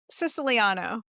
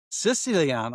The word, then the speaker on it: Siciliano: So Siciliano, did I pronounce your name correctly? Siciliano. Siciliano, I say.